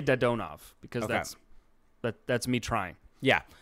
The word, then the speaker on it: Dadonov: So the way Russian pronunciation works is every syllable, like there's no change depending on the configuration. So it's Dadonov. Like there's no change depending on like the sequence.